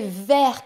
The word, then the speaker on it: vers: une orientation exemple aller vers quelque chose ou quelqu'un en anglais to white et voici quatre mots qui ont la même prononciation vers mais une orthographe et